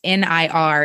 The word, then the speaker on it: Nir: and the other one is called indistractable by near and i think it's pronounced al but it's nir is his first um name and he has